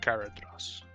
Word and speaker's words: Galadriel: Seth, it's pronounced Galadriel.